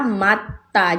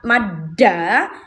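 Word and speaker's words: 맞다: Ya, jadi ini pelafalannya adalah matta. Jadi bukan madda maca tapi matta. Matta. Kenapa? Bacim t ketemu sama huruf D. D-nya akan berubah menjadi T yang ditekan ta ta gitu.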